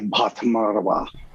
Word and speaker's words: Bhattacharya: She's a PhD psychologist named Sonali Bhattacharya. Her emphasis is in neuropsychology. Good pronunciation, by the way, on that aspirated B at the beginning of her name.